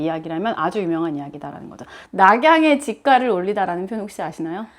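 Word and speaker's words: 洛阳: 낙양이 중국 발음으로 하면 러양이에요.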